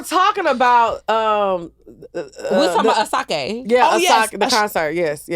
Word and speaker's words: Asake: Asake, he had a concert here in Atlanta and it was really, really fun. But it's pronounced Asake when you go to Asake.